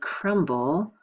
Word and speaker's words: crumb: someone to spell right well the B is silent here and sometimes we want